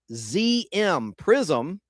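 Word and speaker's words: Priszm: On March 31st, 2011, Prism, and that's spelled P-R-I-S-Z-M, Prism, the largest franchisee for Pizza Hut restaurants in Canada at the time, went into bankruptcy protection in Ontario and British Columbia.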